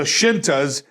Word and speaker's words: Scinta: so they put the shintas and it's spelled s-c-i-n-t-a shinta plural shintas and then underneath it they put s-h i so people wouldn't go are you the skikas what how the hell